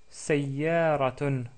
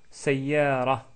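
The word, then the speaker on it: سيارة: Notre mot aujourd'hui est le mot sayyaratun, sayyaratun ou sayyara, tout court si on s'arrête sur le mot. Ce mot-là commence avec le son sa, sa. Il s'agit de la lettre sin associée à la fatha, si vous voulez.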